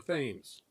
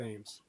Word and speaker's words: Thames: whale ship called the Thames which is the way they pronounce it in Connecticut the Thames um and she's somewhere